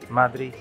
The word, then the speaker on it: Madrid: And I've also learned that apparently it's not Madrid, or it's not Madrid, it's Madrid.